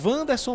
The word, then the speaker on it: Wanderson: O número 3 é Wanderson mesmo, a pronúncia do zagueirão da equipe do Bahia.